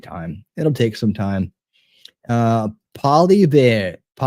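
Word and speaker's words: Poilievre: Polybeer is how it's said. Polybeer. Polyair, depending on your accent.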